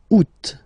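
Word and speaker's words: août: options because uh well two options are acceptable in French the first one you don't pronounce the final t second one you pronounce it oot all right so remember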